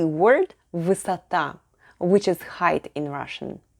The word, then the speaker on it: высота: The stress is on the last syllable, so the unstressed letter O is pronounced as A. Combining вы and сата, we get высота.